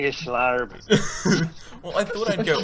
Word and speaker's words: Schlarb: So can we pronounce Maggie's last name? Maggie Schlarb. Can you? Miss Schlarb.